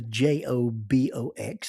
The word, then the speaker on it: JOBOX: The official name of the j o b o x is actually pronounced jobox.